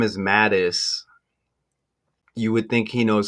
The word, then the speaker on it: Matusz: says his name is Mattis you would think he knows how to pronounce his name right so Google saying matus some are saying matus saying mtis that kind of sounds like Maddox remember the picture Greg